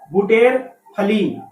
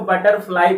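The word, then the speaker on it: butterfly: ठीक है, जैसा लिखा है अगर उस तरह पढ़ेंगे आप तो बुटेर फली पढ़िएगा इसको। लेकिन इसको बुटेर फली ना पढ़ करके इसको बटरफ्लाई पढ़ते हैं। इसका प्रोनाउंसिएशन शुद्ध है बटरफ्लाई।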